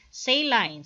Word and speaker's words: saline: concentration of the solution so this word here is read as saline so english or sayus nga get a pronunciation so british is say line so you can read it either way so a saline solution